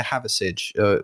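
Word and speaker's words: Hathersage: We went holiday to Haversidge, which is spelt like Hather and then Sage, Sage.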